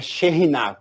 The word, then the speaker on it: Shekinah: teologia abomina a palavra Shekinah a pronúncia correta seria China né esse cá é um R forte Então é chenar por que que a